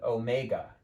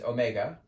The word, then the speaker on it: omega: minute that would be a Greek letter called Omega even though I'm not there with you in the room I want you to pronounce that out loud Omega this is not